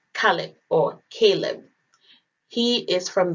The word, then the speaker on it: Caleb: In Arabic, Caleb is pronounced Kalib and dog is pronounced Al-Kalb.